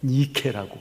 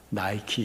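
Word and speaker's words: Nike: 여러분, 니카오, 이긴다, 정복한다, 승리한다, 그런 말인데, 헬라 신화에서 승리의 여신을 뭐라 하면 니케라고 그래요. 니케 여신, 승리라고 하는 뜻이고요. 운동화 나이키 있죠? 나이키가 바로 니케의 영어식 발음이 나이키예요.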